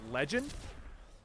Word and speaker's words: LegynD: Like you always see me on Affected Pro or another name, Legend, but it's spelled LegynD.